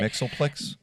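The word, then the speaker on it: Mxyzptlk: when he gets all of the powers of mitel kipel or however you pronounce it Mixel yeah I think I don't is that the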